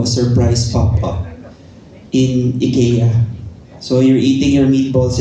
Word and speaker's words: IKEA: marketing campaign so uh Ikea actually Ika is the right way to pronounce it if you want to be proper Ika called us because